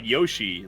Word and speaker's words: Yoshi: But even the word Yoshi, they don't pronounce Yoshi, it's Yosh. Really? And then the I comes out, the I sound comes out naturally from making the SH.